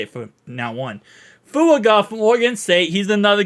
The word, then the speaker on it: Fuaga: his name correctly because there's 3 syllables in his name. So I'm going to go ahead and make sure I say this name actually correctly. Shout out to Dapple Dandy. Fuaga.